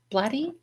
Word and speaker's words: Blatty: Is that is that Bladyy? Blatty. Is that how you say it? Uh, yes.